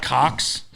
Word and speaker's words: Koch: we had a lot of cocks. What is that? KOK. Cock. Oh, like the Koch brothers? D-cock. No, I guess that's a We pronounce it cock. K-O-C-H.